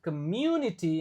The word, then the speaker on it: community: Kata ini requires innovative solutions, strong leadership and active community. Nah, ini juga susah katanya nih. Comm jadi u-nya dibaca kayak ada Y-nya.